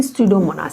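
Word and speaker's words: Pseudomonas: For example स्यूडोमोनास, इसको ऐसे याद रखोगे, P फॉर स्यूडोमोनास, P फॉर साइक्रोफाइल्स, हालांकि P साइलेंट है इसमें।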